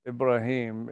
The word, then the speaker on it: Ibrahim: Ibrahim, it's the pronunciation of Abraham in the Arabic speaking world.